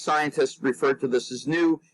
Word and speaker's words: nu: refer to this as new if you were in fact greek you would actually pronounce this knee but we use we